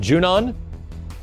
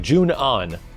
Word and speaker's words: Junon: of junan is it is it junon it's like june on i like junion i want to see